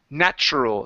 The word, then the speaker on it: natural: this word here is natural so the TU switches to a CH sound instead of natural it's